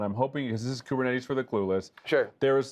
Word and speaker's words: Kubernetes: it wrong it's some I think if you're actually Greek you pronounce it something like kubernetes or something like that but it's our fault